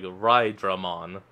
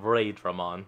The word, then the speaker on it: Raidramon: I mean, I guess because it's a bit, based on Raijin, the god of thunder. You probably all meant to pronounce it as like Rydramon instead of Raidramon, you know.